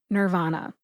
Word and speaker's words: Nirvana: 1990s grunge band Nirvana in the United States we pronounce the band's name Nirvana coincidentally Nirvana is literally